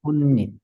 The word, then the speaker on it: 꽃잎: 그러면 꽃잎이 됩니다. 꽃잎, 꽃잎. 네, 그래서 니은이 들어갑니다.